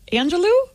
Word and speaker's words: Angelou: Is that Angelou? Is that really? That's how you say it? Yes, sir.